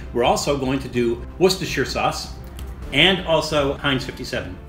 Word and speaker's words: Worcestershire: And that is how you pronounce it, Worcestershire. So it's like the city of Worcester.